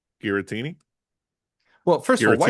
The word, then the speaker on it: Giratina: Guitini. Well, first of all, why you saying Yeah, Tina. There we go. Come on. She likes to be called Tina. Gueritina, please.